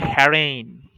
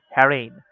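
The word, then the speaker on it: harangue: তারপরে হলো হ্যারেইন। এটা কিন্তু জির উচ্চারণ এখানে করেন না। ওকে? হ্যারেইন। হ্যারেন মানে হলো দীর্ঘ তর্ক।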